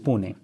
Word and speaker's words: Pune: at 17 and spent next four years in Pune doing my engineering I I went to civil engineering is it how do you pronounce that punet Pune Pune 4 hours from your parents 4